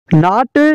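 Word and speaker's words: gnat: का W silent है नाट या नेट नाट या नेट एक कीड़े का नाम है नाट या नेट का जी साइलेंट है राइट राइट का मतलब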